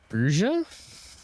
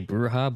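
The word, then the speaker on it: Brujah: his clan is the Bruja? As I pronounce it, a lot of people say Bruja, but I mean, that would mean he's a fucking witch. I don't think Jack's a witch, guys.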